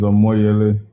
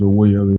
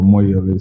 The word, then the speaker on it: Omoyele: uh just to correct my first name is a moyele you have it correct on the uh on on the platform but i think your pronunciation is a way early but these are more yearly so it's just to correct that okay i was sent